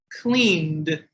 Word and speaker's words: cleaned: So cleaned, like I said, has a D sound at the end.